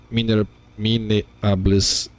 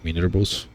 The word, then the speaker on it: minables: And then if minables, not minerables, minables, I guess that's how you pronounce this.